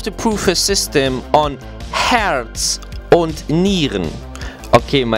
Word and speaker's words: Herz und Nieren: prove a system on Herz und Nieren. Okay, my German sounds a little bit more English than it should be. To say it right in German, it's called Herz und Nieren.